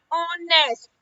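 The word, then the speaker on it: honest: एच क्या हो जाएगा? साइलेंट। तो ये क्या बन जाएगा? ऑनेस्ट। ऑनेस्ट यानी ओ।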